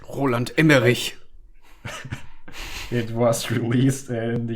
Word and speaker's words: Roland Emmerich: Why did I can just pronounce it German. Roland Emmerich. Roland Emmerich.